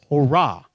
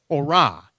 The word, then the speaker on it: Torah: If you were a Jewish individual that knew your Hebrew, it would be Torah. Okay? Like hurrah. That's how I remember it. Torah.